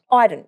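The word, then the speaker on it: Idun: Smith, Zach Butters, Bobby Hill, Connor, is it Eden? I can never know how to pronounce that fellow's surname from GWS, my bad. And James Rowbottom. Iden, yeah.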